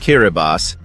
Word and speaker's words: Kiribati: Scattered across 33 atolls in the Central Pacific, Kiribati, pronounced Kiribati, once thrived on copra trade and fishing in remote lagoons.